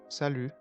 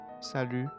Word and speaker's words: salut: want you can use salut which means hi and absolutely we don't pronounce the T at the end and I didn't forget